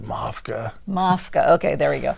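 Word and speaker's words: MAFCA: on them on the maska um am i saying it right no according to the game jay told me to call it mafka mafka okay there we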